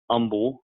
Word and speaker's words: Humble: It's pronounced Humble.